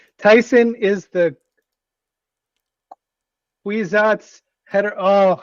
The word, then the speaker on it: Kwisatz: It's pronounced Kwisatz.